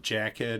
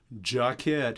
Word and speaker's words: Jacquet: but anyway I used to always call it Jack ed and I know some people say Jacques a